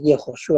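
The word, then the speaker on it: יְהוֹשֻׁעַ: Pues aquí en el sustantivo en hebreo tenemos la palabra Yeshua, que este es una pronunciación tardía del nombre de Jesús en hebreo, que es Yehoshua.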